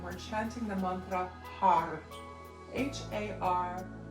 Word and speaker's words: Har: H-A-R, pronounced Har. In the end, we roll the R at the roof of the mouth.